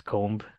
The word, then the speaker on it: comb: And like good example, COMB, which is comb, it's like spelled COMB, right? But bomb is spelled as BOMB, but they're not pronounced as the same thing.